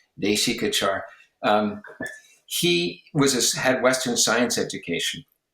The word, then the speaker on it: Deśikācar: And of course, Desikachar had a Western, I call him Desikachar, it's an American mispronunciation, please forgive me, Deśikācar.